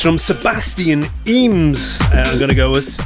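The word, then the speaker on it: Emes: It's Sebastian Eames. Spell that one for you, E-M-E-S.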